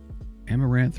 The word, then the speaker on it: amaranth: this thing as possible amaranth rhymes with as am as in i am and rant amaranth amaranth amarino amaretto